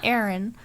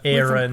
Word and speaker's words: Aron: you say it yeah cuz it's not Aaron no it's like iron but Aon a Aon who I